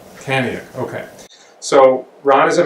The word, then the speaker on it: Kaniuk: Am I pronouncing it right? You're pronouncing it right, Ron Kaniuk. Kaniuk, okay.